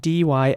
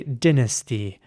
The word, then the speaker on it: dynasty: Okay, the word I'm looking at now is spelled D-Y-N-A-S-T-Y. Now, how would you pronounce this word? Let me know in the comments. In British English, some people would say dynasty.